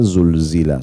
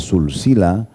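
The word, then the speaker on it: زلزلت: Didza dan zainya itu lidahnya bergetar. Idza zulzila. Sewaktu bumi kami goncangkan dengan keras pada hari kiamat. Tapi kalau kita tidak bedain kita bacanya pakai sin isa sulsila, silsilah sulsilah itu ya bisa berarti bersambung-sambung ya.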